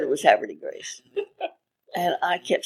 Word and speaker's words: Havre de Grace: that it is pronounced Havre de Grace, being the closest to the French pronunciation, which is Havre de Grace.